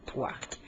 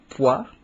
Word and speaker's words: Pwark: et 6 ans plus tard, ton entreprise s'appelle Poirc. J'aimerais, Louis, que tu expliques aux auditeurs ce que fabrique et vend Poirc. Ben, premièrement, Poirc, Mhm.